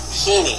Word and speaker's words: Heene: His name is Falcon Heaney. His age, 6 years old. The last name is spelled Heene. The father is Richard Heaney, same spelling on the last name.